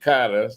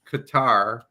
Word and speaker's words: Qatar: They pronounce it Qatar.